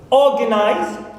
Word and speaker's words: organize: Organize. So O here is the stressed syllable.